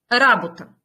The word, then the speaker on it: работа: есть еще Итак работе работа и работник посмотрите как смещаются ударение здесь Работа как выглядит глагол работе но работник не буду это пожелания